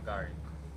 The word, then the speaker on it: Kigali: Um what are what is there to do in Kagari? Is it Kagari? I must say it right. Yeah. Kagari.